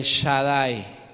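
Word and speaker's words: Shaddai: ahí con las hermanas separadas que dicen el Shadai Shadai s h a d d a i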